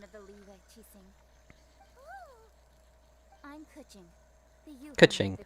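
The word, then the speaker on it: Keqing: Kaching? Yeah, As it happens, that's her name. I am one of the Liwei Qixing. I'm Kuching, the Yuhan Kuching.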